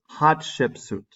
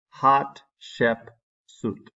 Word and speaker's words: Hatshepsut: text the woman is hot ship suit hot ship suit that's the pronunciation who ruled Egypt during